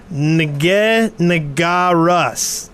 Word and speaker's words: Russ: i forgot and finally my name is not or it's pronounced russ it doesn't make any